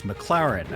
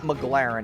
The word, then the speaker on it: McLaren: because he couldn't pronounce McLaren he says the name wrong like eight times in a row it's not McLaren it's McLaren okay so that's how we